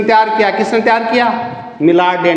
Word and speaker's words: Millardet: English में मिलार्ड डे, MILLARDET, मिलार्ड date भी लिखा है कई किताबों में, मिलार्ड डे, टी इसमें साइलेंट भी हो सकता है।